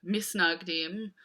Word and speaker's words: Mitnagdim: to his city so manag team or as the hebrew would have been pronounced by Jews living in Eastern Europe nice nug deem this just means the